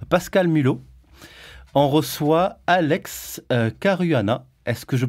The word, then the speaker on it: Carruana: Seb tibax après Pascal Mulot on reçoit Alex Caruana est-ce que je prononce bien oui c'est ça tu je crois